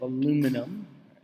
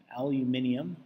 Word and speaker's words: aluminium: how many moles of aluminium aluminium or you want to pronounce it aluminum will react with zero